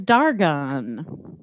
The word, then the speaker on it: Dargon: the next name is dargon a-r-g-o-n like argon exactly it's hebrew for